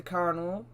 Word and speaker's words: colonel: But the modern, the form coronel is the source of the modern pronunciation.